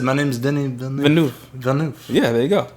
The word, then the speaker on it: Denis Villeneuve: Denis Villeneuve, I think that's how you say his name.